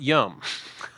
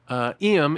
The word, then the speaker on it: Iam: All right, now let's look at some of these comments, guys, because I know his name is pronounced Iam, not Yum.